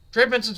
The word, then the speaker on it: Trey Benson: So I'm not saying they aren't going to give him the ball, but Trey Benson's been really proving himself, so I look for him to potentially get a few more touches as well.